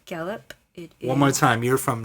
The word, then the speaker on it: Gallup: I came from a little town called Gallup. Gallop, like galloping, like Yeah, I the guess action. so. I don't know. Is it spelled the same way? Probably not. Gallup. It's Gallup.